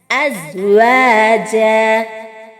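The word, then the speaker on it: أزواجا: അസ് അസ് അസ്വാജ. സായ് എന്ന അക്ഷരത്തിന്റെ ഉച്ചാരണവും പ്രത്യേകം ശ്രദ്ധിക്കണം. നമ്മുടെ ഇംഗ്ലീഷ് ലെറ്ററായ അവസാനത്തെ അക്ഷരമായ സെഡ്, ആ ഒരു ശബ്ദമാണ് ഈ അക്ഷരത്തിന് ഉണ്ടാവേണ്ടത്. അതിനു പകരം സീനിലേക്ക് ഈ അക്ഷരം മാറിപ്പോകാതെ ശ്രദ്ധിക്കുക.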